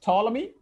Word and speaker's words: Ptolemy: so important people sto toy p p is silent here t p t me